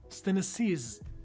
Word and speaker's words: synesthesia: Synesthesia. Yes, we'll learn how to properly pronounce that.